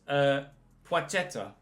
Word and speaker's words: Płacheta: And the L with a slash through it is pronounced as if it were a W. So it's Płacheta.